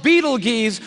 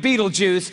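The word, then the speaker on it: Betelgeuse: heard about this star it's called Beetle Gees or be be juice you can pick your pronunciation I'm obviously going with Beetle Juice and Beetle Juice is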